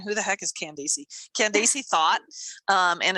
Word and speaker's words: Thoth: She always says, so for those of you guys that are listening and you're wondering who the heck is Candace Thought, and it's spelled THOTH.